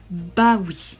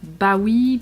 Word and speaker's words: bah oui: trophée mais bien de son livre d'eli interesting bah oui bah oui bah oui johan fransson 36 weeds l'acba sometimes